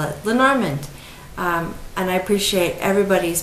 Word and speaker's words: Lenormand: the grain i caught lenormand i think this is the english pronunciation and since i speak